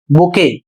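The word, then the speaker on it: bouquet: अगला शब्द है बी ओ यू क्यू यू ई टी और इसे पढ़ा जाएगा बुके और इसका अर्थ होता है फूलों का गुच्छा।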